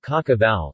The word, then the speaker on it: Cașcaval: In Romania and Moldova, Cașcaval, Romanian pronunciation, Cașcaval, is used to refer to a number of types of yellow medium and semi-hard cheeses made of sheep's or cow.